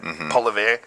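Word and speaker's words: Poilievre: Polivet.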